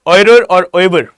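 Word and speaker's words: oeuvre: Okay, guys, please mark the name Raja Ravi Verma, and his oirer we call it or pronounce it oirer.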